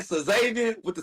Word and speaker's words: Xavier: Jacoby outthrows Zay? T-set. Yeah. Okay. All right. So how you pronounce it first name? So Xavier with the C? I'm not even trying that, Jay. It's Zay.